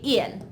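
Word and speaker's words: ils: Yes, I know that there's an S after il, but we still just say il. So we read it the exact same way, il and il. We don't pronounce the S.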